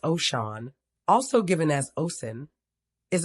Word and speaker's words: Oshun: Oshun, pronounced Oshun, also given as Osun, is a supernatural entity